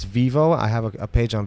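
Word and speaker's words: Vevo: pronouncing this this is my European is it vvo or Vivo Vivo Vivo okay so it's Vivo I have a page on Vivo I have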